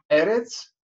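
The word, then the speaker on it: ארץ: Если мы слышим в слове Э, два Э подряд, да, то ударение падает на предпоследний слог. Поэтому Эрец не на последний слог, а на первое Э.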